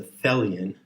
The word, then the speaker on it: Thelian: badge that says fellian t-h-e-l-i-o-n and it rhymes with helian and it must be